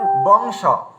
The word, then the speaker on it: বংশ: তো তালু স যদি থাকে তো তাহলে আমাদের উচ্চারণটা কি আসছে, আমরা দেখুন বংশ। এখানে কিন্তু উয়া ইয়া ম কিছু উচ্চারণ করলাম না, আমরা সরাসরি এখানে উচ্চারণ করলাম বং, মানে স থাকার কারণে বংশ, মানে বিন্দিটা একেবারে সরু